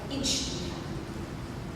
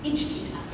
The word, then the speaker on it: ijtihad: And Octave, to his credit, pronounced it beautifully. This idea is called ijtihad. Ijtihad.